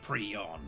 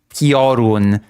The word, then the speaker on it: Piorun: recount the tale, the legend of the Prion. Prion. I still cannot get over this pronunciation of the word Piorun. Okay? There's a very stark difference between Piorun and Prion.